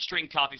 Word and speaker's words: strcpy: line of code St Str cpy which is pronounced string copy left parentheses and then